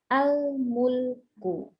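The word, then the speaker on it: الملك: Tapi kalau di depan, maka dia punya harokat fathah, meskipun tidak tertulis tanda fathah di sini. Gitu. Jadi nanti membacanya langsung al-mulku. Al-mulku. Ya, jelas. A-nya jelas.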